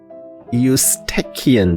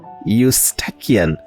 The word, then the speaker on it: Eustachian: Eustachian tube. Alright? Eustachian. So the E is silent. Over here we start with Eustachian. This CH sound like K.